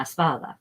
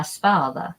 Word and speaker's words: espalda: Espero que no hay una abeja en la espalda.